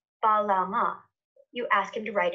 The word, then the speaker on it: Balam: that we're meant to read this glyph as Balama, minus the echo vowel, so Balam.